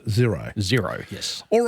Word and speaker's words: Xero: But pronounced zero.